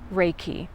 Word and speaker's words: Reiki: Reiki is life force energy. It is made up of two words in Japanese, rei and ki. Many times people say, how do you say that word? Reiki.